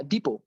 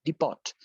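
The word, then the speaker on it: depot: যেমন ধরেন ডেবু, বা ডিপো। ডিপো মানে কি? ডিপো মানে হচ্ছে ডিপো। ডিপোর বানানটা কিন্তু ডিইপিওটি, ডিপট। তো আপনি যদি ডিপোকে ডিপট উচ্চারণ করেন, that could be a problematic thing.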